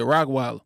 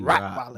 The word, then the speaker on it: Rottweiler: I said Rockweiler. It's rot or like a Roddy. Rot something. What? Yeah. R-O-T. Rottweiler.